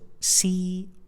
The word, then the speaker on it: could: So as you could see, the combination of letters O-U, just like in this word, is pronounced with the short vowel sound O. So we pronounce this word as could, not could. We don't pronounce it could.